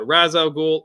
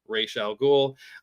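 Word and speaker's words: Ra's al Ghul: And then following up Killer Croc, we've got Razow Ghoul or Rachel Ghoul. Um you know, whichever way you prefer to pronounce it.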